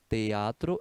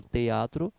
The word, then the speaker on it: teatro: na palavra teatro né teatro em espanhol quando você fala teatro se pronuncia três sílabas Oi beleza bom então